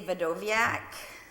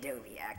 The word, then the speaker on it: Wdowiak: So the W is silent? Yeah, Polish people say Wdowiak, but we just say Wdowiak to make it easier.